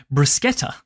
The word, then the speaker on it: bruschetta: No, that's actually the way that an Italian speaker would do it. And in fact, Bruschetta.